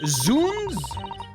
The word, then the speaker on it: Zounds: Zhouns is pronounced Zuns. Really? In Elizabeth and it's Zuns. Oh, I like Zounds better.